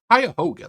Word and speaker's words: Cuyahoga: It's pronounced Cuyahoga, ladies and gentlemen.